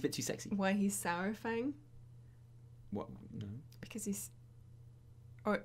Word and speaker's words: Saurfang: Everyone's like, "There's no precedent. It's soar like dinosaur.